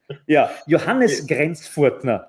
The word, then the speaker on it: Johannes Grenzfurthner: So it's Johannes Grenzfurthner. That's how it would be correctly pronounced.